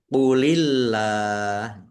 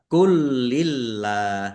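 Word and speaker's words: قُل لِّلَّهِ: Qulillah. Qulillah. Jangan dibaca kulillah. Jangan dibaca gitu. Saya seringnya mendengarkan bacanya kulillah. Ini lamnya tidak ada tasdidnya.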